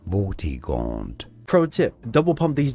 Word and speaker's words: Vortigaunt: I don't know really how you say it. Vortigaunt, Vortigant, Vortigaunt. Vortigaunt.